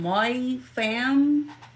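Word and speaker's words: Mai Pham: name U wrong earlier her name is spelled m a i p h a m my fam um she's a 19y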